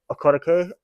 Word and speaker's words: Okereke: I like the middle linebacker that they have, Bobby Okereke. Oh yes, I think that's how you say his name. Okereke, yeah.